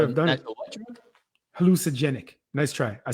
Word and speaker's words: hallucinogenic: Hallucinogenic. Nice try. I said it properly. You did not. Hallucinogenic. You left that whole syllable. Not hallucinogenic. Wait.